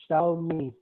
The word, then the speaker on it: Xiaomi: Yes, XIOMI I yes, Sha is how to pronounce that. Okay. Xiao, This is Xiaomi. Xiaomi.